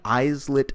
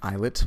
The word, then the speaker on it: islet: And the way the endocrine pancreas is organized is that there are many islet cells. It's actually pronounced islet, but I'm mispronouncing it just to let you know how it's spelled.